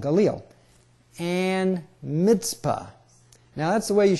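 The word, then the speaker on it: Mizpah: it we often say MPA but that's because we don't have a TZ letter in English language but in Hebrew there is the uh yeah and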